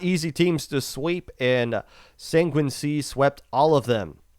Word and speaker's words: Sanguine: Hats off to Sanguine Seas, pronounced like penguin, who went 6-0 per match, 18-0 per game.